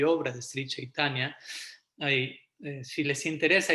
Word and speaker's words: Chaitanya: En sánscrito la C se pronuncia como una CH, pero es Chaitanya.